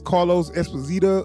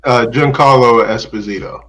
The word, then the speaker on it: Giancarlo Esposito: It's Carlos Esposito or something. He's got a Giancarlo Esposito.